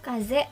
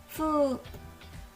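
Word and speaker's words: 風: Kungnya itu kaze dan ongnya adalah fu.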